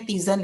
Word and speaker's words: tisane: Nah, kemudian ada yang ketiga tuh namanya tisane, bacanya tisane ya.